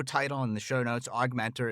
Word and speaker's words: OGMentor: and the show notes augmentor is spelled o OG Mentor pronounced aug Mentor I love the name